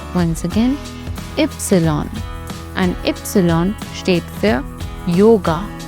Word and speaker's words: Ypsilon: The letter Y is pronounced as Ypsilon. Once again, Ypsilon.